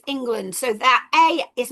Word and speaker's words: England: So if they're looking at or you're looking at the word England that a as an a in this word is not a plausible pronunciation is it? because it's not e and or whatever. It's it's England.